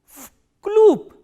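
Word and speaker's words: в клуб: Why? Because this v is voiced, so it will be pronounced as its voiceless counterpart, which is f, and this b is again a voiced consonant, so it will be pronounced as p, vkloop.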